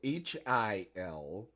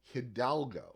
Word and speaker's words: Hidalgo: there were so many times that I wrote Hiladago, Hidalgo. That's not the way it's spelled. It's not. It's Hidalgo.